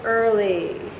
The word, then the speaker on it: early: but it's there and the last one is confusing it looks like ear doesn't it but if it's underlined all three it's the phonogram ER as in early oh God that's the fifth